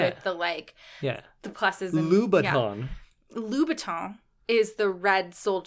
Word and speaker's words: Louboutin: Because he was buying Christina Aguilera like Louboutins and like those are like $800, $900 shoes. Sorry, what? Louboutin.